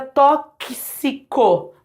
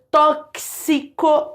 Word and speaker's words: tóxico: por exemplo na palavra tóxico ó esse x de novo aqui ó esse x né então tóxico anexo se isso você tem esse som de X na língua portuguesa sempre remetendo a dois fonemas o faz sentido isso